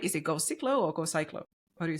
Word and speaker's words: GoCiklo: Is it GoCiklo or GoCiklo?